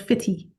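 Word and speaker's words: Footdee: the Dee, um, and stop for an exploration of a place called Fitty. Okay. It's spelled Foot, Dee. So it looks like Foot D, Uh-huh.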